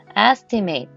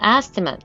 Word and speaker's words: estimate: 자, 우리 이거 발음을 두 가지로 할 수 있어요. estimate 하면 얘는 동사로 추정하다 이런 뜻이 있고요. 발음을 estimate 이라고 발음하시면 명사로 추정이란 뜻이 돼요.